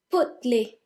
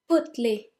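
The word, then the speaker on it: potelé: bitter number 2 is put Li Butley now the first is silent as you may have noticed put Li repeat Butley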